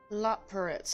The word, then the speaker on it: Loporrits: Loporrits, that's how you say it.